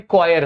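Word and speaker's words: choir: यू आई आर ई दोनों को pronounce करते हैं क्वायर से मतलब क्वायर बोलोगे दोनों का सेम प्रोनंसिएशन होता है सीओ आई आर का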